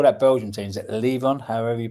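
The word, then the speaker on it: Leuven: Is it Leon? However you pronounce it. Luven.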